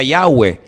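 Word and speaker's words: Yahweh: yot he Bad hei verdad ese nombre se pronuncia yahwe Ese es el nombre que aparece en el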